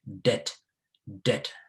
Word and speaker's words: debt: other african countries as depth depth no please the b in this word is not pronounced that it is pronounced dead pronounce it as if the b is not there the b is there